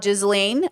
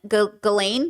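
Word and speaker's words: Ghislaine: And by the way, can I just say the way people are trying to make this about Jizelain or Gizlane? Gizlane. They're trying to say Gizlane. Galain.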